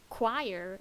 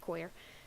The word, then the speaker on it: choir: pronounced it is very funny like like it's pronounced choir it's a choir but like I don't care I want to continue calling it queer so yeah I'll just just for clarification I'm